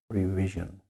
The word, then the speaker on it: revision: And we have revision. Re, R-E. That's the long sound at the end of a syllable. Re. Then you have vi. The I is short, even though it's the end of a syllable. And then sion, revision.